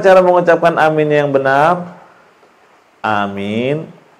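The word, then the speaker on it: آمين: Amin itu A-nya 2 harakat, min-nya boleh 4 sampai 6 harakat. Ya, amin tanpa disyiddah. Jangan dibacanya amin. Itu salah.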